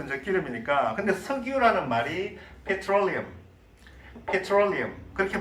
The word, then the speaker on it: petroleum: 근데 석유라는 말이 petroleum 그렇게 발음합니다.